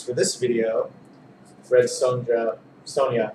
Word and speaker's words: Sonja: this video red Sona Sonia sorry I pronounced the J and you're not supposed to red Sonia number three